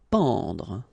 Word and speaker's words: pendre: Pendre. Okay, so nasal here, en, en. Pendre, pendre.